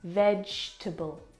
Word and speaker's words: vegetable: forget the E vable we don't pronounce that second syllable vegetable vegetable fantastic I'm going